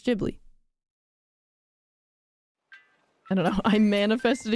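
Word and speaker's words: Ghibli: Heron oh it's unfortunately jibbly it's clearly pronounced jibbly isn't that what I'm saying I'm confused I'm pretty sure it's jibi I know people say gibli but I think it's jibli I don't know I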